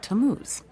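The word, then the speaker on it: Tammuz: His name is Tamuz. To what? T A M M U Z. It's pronounced Tamuz.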